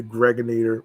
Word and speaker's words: Gregonator: I'm your man, G Money Stacks, aka the Gregonator, rhymes with Annihilator.